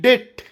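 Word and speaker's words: debt: bomb bomb ಅಲ್ಲಬಿಓಎಂಬಿ bomb ಸಾಮಾನ್ಯವಾಗಿ ಟಿ ಅಕ್ಷರದ ಮುಂಚೆಬಿ ಬಂದರೆ ಬಿ ಸೈಲೆಂಟ್ ಆಗಿರುತ್ತದೆ ಹೇಗೆ ಡಿಬಿಟಿ ಡೆಟ್ ಸಾಲ ಡಿಬಿಟಿ ಡೆಟ್ ಡೆಪ್ಟ್ ಅಲ್ಲ ಡೆಟ್ ಡಿಓ ಯುಬಿಟಿ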